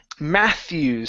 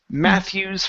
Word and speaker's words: Matthew's: good next up is Matthews so that that name is going to have a th sound in the middle as well so it's Matthew's father Matthew's father Matthew's